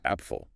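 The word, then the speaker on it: Apfel: Appful. Short clear a sound like ah.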